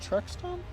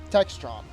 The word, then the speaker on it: Textron: Is that how the company name is pronounced? Truxton? Textron.